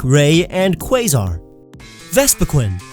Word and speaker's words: Vespiquen: Vespiquen. There is only one E. I know it's weird, but it's definitely not Vespiquen.